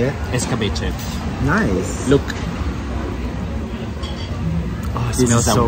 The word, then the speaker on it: escabeche: Escabeche.